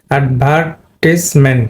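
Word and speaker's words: advertisement: এটা অ্যাডভার্টাইজ, এটা হবে অ্যাডভার্টিসমেন্ট, অ্যাডভার্টিসমেন্ট। এখানে কিন্তু তোমার এই ইটা কিন্তু সাইলেন্ট হয়ে যাবে, এটা সাইলেন্ট হবে।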